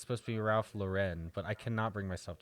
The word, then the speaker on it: Ralph Lauren: It's not real gold, but it is Ralph Lauren, so I got a Ralph Lauren necklace and